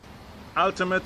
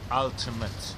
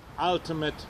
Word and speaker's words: ultimate: robimy, to jest zdecydowanie ultimate. Ultimate wymawia się właśnie w ten sposób. Tam nie ma nic tak naprawdę pomiędzy tym M i tym T.